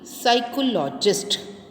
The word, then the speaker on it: psychologist: Today it वॉज टू बी साइकोलॉजिस्ट. बेटा देखिए हम कैसे रीड करेंगे. इसमें बेटा पी वर्ड जो है दैट इज साइलेंट.